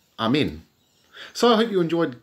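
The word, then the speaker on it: ἀμήν: ancient feminine here now the word amen is pronounced Amin in Greek Amin so I hope you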